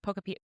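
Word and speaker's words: Pokopia: Well, this is older news now because Poctopia has been out for That's how you say it, right? Pocapia.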